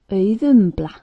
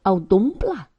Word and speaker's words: Auðumbla: Some say audumbla. Wrong accent, wrong pronunciation, no understanding for auðumbla. And important, the accent should be on the first syllable, as always in Icelandic.